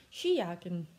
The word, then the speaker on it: Skijacke: 쉬 야킨, 스키 재킷. 이 스키가 아닌 쉬라는 것만 유의하시면 됩니다.